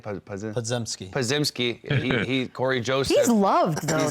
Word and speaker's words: Podziemski: How do you say it? Podziemski.